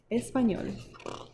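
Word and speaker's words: español: i can run as fast as the boys espanol is how you say spanish in spanish espanol and her english is to poquito tiny or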